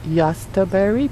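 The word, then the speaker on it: Jostaberry: berry but it's pronounced yasta Barry because it's a German word and it's cross between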